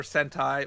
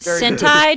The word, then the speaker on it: Sentai: I know, but it just, Sentai just sounds like something very, like... That's because it rhymes with hentai.